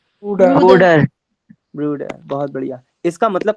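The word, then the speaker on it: Bruder: ब्रूडर ब्रूडर।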